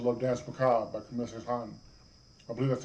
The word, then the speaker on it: Saint-Saëns: But then I also love Dance Macabre by Camille Saint-Saëns. I believe that's how you pronounce his name.